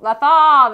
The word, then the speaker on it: Lothal: So we see, first time we see in live action is writer Azadi, who's now the governor of Lothal. Yeah, Lothal. Lothal? Nope. Lothal. Yeah. Lothal. Lothal, there it is.